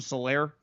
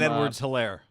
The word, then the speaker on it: Edwards-Helaire: Something Solaire, the little running back. Clyde Edwards-Helaire.